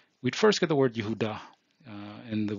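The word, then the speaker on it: יהודה: So Yehudah is how you pronounce that word.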